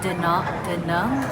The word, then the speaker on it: Da Nang: We were meant to go up to Hanoi and Da Nang, is how you say it.